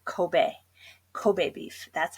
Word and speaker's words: Kobe: talking about the beef you have to say Kobe Kobe beef that's how it's pronounced so remember ease or A's in Japan